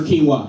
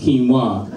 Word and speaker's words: quinoa: with every thug trading their guns in for quinoa. That's it. The only time the commercial would go bad is when somebody gets cocky and goes, hey man, it's pronounced quinoa, not quinoa.